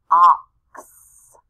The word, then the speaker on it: ox: for x-ray all right here's another x at the end ox and that x sign at the end sounds like a k with an s next to it ox and here it